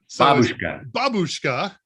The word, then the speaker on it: babushka: pronunciation was absolutely horrible you do not put the emphasis on the second syllable it's always on the first babushka and that's grandmother and